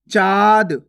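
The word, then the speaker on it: चाँद: कैसे पढ़ेंगे चाद चाद अब जैसे चंद्र बिंदु की मात्रा लग गी तो कैसे पढ़ेंगे चांद चांद नाक और मुंह दोनों से उच्चारण हो रहा है गौर से सुनो चांद इसी प्रकार से आपको इसका उच्चारण करना है पांच कैसे पढ़ेंगे पांच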